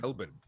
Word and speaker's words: Melbourne: city correct well in in Australia the letter R doesn't really exist um so according to Australians it's actually Melbourne as though on the